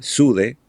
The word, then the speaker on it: Soothe: Dinámico pero pero inteligente se escribe s o o t h e sude este el nuevo el